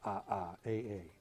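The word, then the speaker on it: aa: What is this odd-looking word which has as many syllables as it has letters? And time is up. It's A-A.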